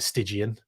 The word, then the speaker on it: Stygian: Hey, you pronounced my handle correctly. I find that's rare. What, Stygian 360? Do people say Stygian? I'm glad I got it right, Stygian.